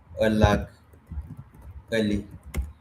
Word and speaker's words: Alagali: name, that's their name, Alag Ali. It is spelled like this, yes, but this is how we pronounce it, Alagali, even though we write it like this.